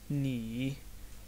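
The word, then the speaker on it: 你: वो है ये, और इसको ऐसे प्रोनाउंस करते हैं नी नी नी यानी तुम।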